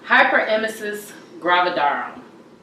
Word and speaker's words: hyperemesis gravidarum: What is how do you pronounce it? Hyperemesis gravidarum.